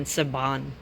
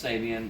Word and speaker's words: Sabian: thicker for some reason i kept pronouncing sabian saban for some reason i never really looked at the name though it's a bomb no i know it's sabian but um vader drumsticks hand